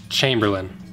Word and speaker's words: Chamberlain: Okay, I just looked it up, it's Chamberlain. That's how you say it.